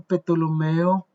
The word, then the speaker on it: Ptolomeo: Entonces Ptolomeo en portugués sí, en Brasil les dicen psicólogo, ellos dicen Ptolomeo, sí, ellos pronuncian la P, pero en español nosotros no.